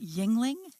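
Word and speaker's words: Yuengling: the first American Brewery so is that how you say it Yingling Yingling yes yes Yingling Yingling I would not have guessed that because it looks like jingling yes jingling yes so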